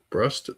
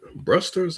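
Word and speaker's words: Bruster's: Brust. Brusters. I think I was pronouncing it wrong.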